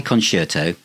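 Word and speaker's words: Conshirtoe: dam the dab song con shirto say kerto but it's spelled c o n s h i r t o e conto um so their humor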